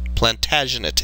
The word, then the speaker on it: Plantagenet: Plantagenate English, I believe, is how it's pronounced.